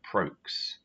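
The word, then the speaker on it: Prokeš: That's for English phonetics on Prokes. It's like spokes, but with PR at the front instead of SP.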